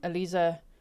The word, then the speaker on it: Aliza: Um, Alisa Sherman. I'm tempted to say Eliza, but I got to pronounce her name correctly. Alisa Sherman is her name.